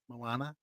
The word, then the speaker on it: Moana: princesses Ariel and Moana Moana I say it right you got it right okay good Moana and